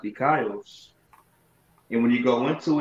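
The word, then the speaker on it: δίκαιος: That word righteous in the Greek is dikaios. It be pronounced dikaios.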